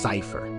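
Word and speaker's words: Seifer: You know Cypher? Yeah. I used to call him Cypher, but I didn't realize it's actually pronounced Cypher.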